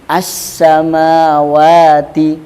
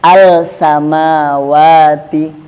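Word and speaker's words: السماوات: Maka cara membacanya tadi dileburkan. Makanya lamnya asyamsiyah itu enggak jelas. Nah, contohnya as-samawati, bukan al-samawati.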